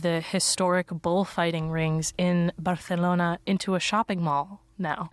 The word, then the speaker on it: Barcelona: you go to Barcelona Barcelona that's how it's pronounced by the Catalan you see did you